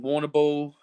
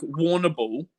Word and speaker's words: Warrnambool: I've lived in Warrnambool, Wagga Wagga.